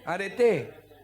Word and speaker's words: areté: En realidad, este es con acento en la e, no en la e final. areté.